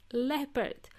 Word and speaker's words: leopard: Okay, and the last animal in the list was the word leopard. L-E-O-P-A-R-D. L-E-O. You would think that it's pronounced Leo, but it's pronounced leopard.